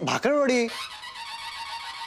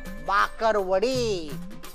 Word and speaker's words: भाकरवड़ी: अरे भाकरवड़ी देते हो क्या? भाकरवड़ी मेरे को, भाकरवड़ी चाहिए। नहीं नहीं मिलेगी, पहले ठीक से बोलना सीख, उसका सही उच्चारण होता है भाकरवड़ी, बकरी बकरी का ब, भाकरवड़ी बोल के दिखा, भाकरवड़ी।